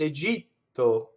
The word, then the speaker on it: Egitto: In Italian, it's egito. It's very, very much a T, but it's not egito with air, right?